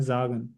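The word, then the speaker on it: sagen: या एस को हम जेड से प्रोनाउंस करते हैं। जागन।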